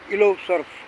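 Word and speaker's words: Île aux Cerfs: में कहे हिरण द्वीप यह फ्रेंच वर्ड है इलो सर्फ यह फ्रेंच भाषा है इसमें शब्द क्या स्पेलिंग कुछ होता है उसे बोला किसी और तरह से जाता है खैर आगे और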